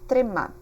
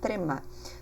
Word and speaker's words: trema: In Brazil or in Portugal, we use the name trema. Okay, trema. T-R-E-M-A. Trema for us, okay, in our pronunciation.